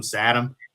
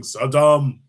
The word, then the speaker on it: Saddam: George Bush the Elder did with uh he called him Satam. He wouldn't call him Saddam. He wouldn't give him the satisfaction of saying Saddam.